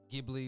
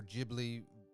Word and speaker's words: Ghibli: And it definitely has, it's Studio Colorido, I believe that's how you pronounce it. And they definitely give me Ghibli or Ghibli vibes, however you want to pronounce that studio.